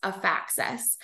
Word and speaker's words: Afaxys: who need it and our name actually stems from a combination of both affordable and access which is how you would pronounce a faxes another little tidbit here